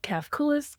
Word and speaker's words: Cafcules: Yes, I have my own consulting business called Cafcules Consulting. Like my calves are the coolest.